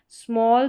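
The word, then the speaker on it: small: sound जो है A double L का ऑल करके साथ में आ रहा है स्मॉल स्टॉल टॉल वॉल फिर यहां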